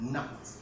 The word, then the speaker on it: knight: isn't silent and no now in night the letter k or the sound is also silent in the pronunciation of a knight likewise in knife the